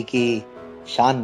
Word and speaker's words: Kaish: तो थोड़ा जो स्पेलिंग जो है वो KAISH कैश मेरा है, और जो जी। मीनिंग भी अलग है, और वो वहाँ पे जो है कैश का वो जो पैसों का है वो अलग। वहां पे आई नहीं होता है। हाँ, तो सुनने में थोड़ा सा उच्चारण में लग रहा है वैसा।